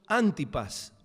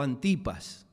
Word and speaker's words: Antipas: es el Herodes llamado Antipas o Antipas. En muchos libros lo he encontrado con el acento en la A. Yo lo conocí siempre como Antipas, pero este es el